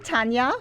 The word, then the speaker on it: Tanja: good morning thank you for having me I'm Tanya One Last Time correct pronunciation I'm from Germany so some people struggle